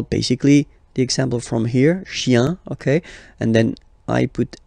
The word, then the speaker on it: chien: Remember, chien, singular form, chien, same pronunciation, but you put this S, okay? Final S, not pronounced.